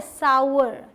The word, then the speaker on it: sour: Next is SOUR, इसे बहुत सारे लोग सार बोल देते हैं, जो कड़वा होता है ना उसके लिए। तो यहाँ पर ये क्या है पता है, सावर। ऐसे नहीं कि अलग अलग बोलें आप, सावर, ऐसे नहीं, सावर, एक साथ बोलने की कोशिश कीजिए, सावर, ठीक। इसे सावर भी नहीं बोलना, सावर, ऐसे साथ में बोलिए, बन जाएगा।